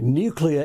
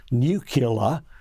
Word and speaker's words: nuclear: get it right okay nuclear is the only correct pronunciation there is no other pronunciation as I I think I mentioned to you before Peter sadly the big Maran Webster dictionary in America offers Nu killar as a second pronunciation because three American Presidents Eisenhower Clinton and George W bush all said it look now most Australian